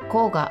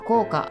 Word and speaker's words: 甲賀: しますねちなみに甲賀はよくコーガと呼ばれるのでコウがと呼んでいましたが正しくは効果と読むらしいですえそうなんです